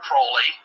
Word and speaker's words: Crowley: be have his name pronounced crowley to rhyme with holy and uh these statements